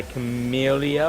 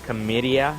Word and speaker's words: Camellia: The song is by Camellia, or Camedia, depending on where you're from and how you say it.